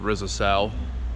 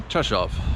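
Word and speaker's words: Rzeszów: am now in session of Poland basically it's spelled with Rizzo Sal which is how I was pronouncing it all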